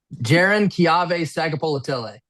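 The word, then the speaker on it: Jaron-Keawe Sagapolutele: I was going to ask, can you pronounce his name one more time for us? Jaron Kiave Sagapolatile.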